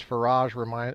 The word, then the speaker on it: Farage: For nearly 30 years, Farage rhymes with barrage has been the most influential British voice of what he calls the fight back and his detractors call populism.